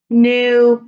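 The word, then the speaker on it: knew: Peterson idea idea idea new new new remember silent K large large large though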